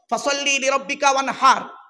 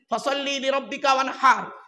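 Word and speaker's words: فصل لربك وانحر: আপনারা নামাজ পড়েন অনেকে, ইন্না আতাইনা সূরা পড়েন, ইন্না আতাইনা কাল কাউসার ফাসাল্লি লিরাব্বিকা ওয়ানহার। মুরব্বিরা শুনে নিন, ফাসাল্লি লিরাব্বিকা ওয়ানহার, হাই হুটি গলার ভেতর থেকে হেটা উচ্চারণ করবেন।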